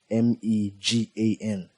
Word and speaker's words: M3GAN: It's pronounced like the name you have in mind. M E G A N.